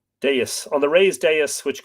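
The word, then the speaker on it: dais: it's really fabulous yeah deus deuce thank you you're all right those of you who are suggesting how to pronounce it there you go deus on the raised deus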